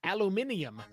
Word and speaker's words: aluminium: the first samples of aluminium. Aluminium, because that's how the world pronounces it, from the electrolysis of aluminium oxide. No, that's not how the world pronounces that. That's just aluminum oxide, I guess.